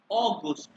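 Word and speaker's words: August: अ, अगस्त तक पहुंचे थे सर, हाँ, अगस्त की हाँ, प्रोनाउंसिएशन एक बार दोबारा बता दें।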